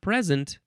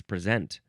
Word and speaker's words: present: It's not present, it's present. Now it's interesting that if you flip the the the the pronunciation of this word, you then get the noun of what is being presented.